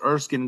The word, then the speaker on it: Erskine: So, um we always start off by by pronouncing our name because sometimes people will say Erskine and it's not Erskine.